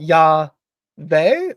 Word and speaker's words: Yahweh: of them have that Yahweh or Yahweh. So it's 2 syllables, and it's the Yah always, and then the last syllables are different.